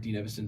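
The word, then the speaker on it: Dean Evason: They fired Dean Evison.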